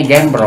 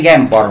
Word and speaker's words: Gembrong: Bacanya Gembrong. Gembrong, Genjing. Genjing. Kita kan bilangnya Gempor, bukannya Gempor. Oh, gitu, Gempor.